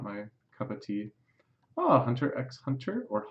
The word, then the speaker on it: Hunter x Hunter: just it's not my cup of tea Oh Hunter x Hunter or hunter hunter as I'm told many times that it's actually pronounced sure sure this is the one that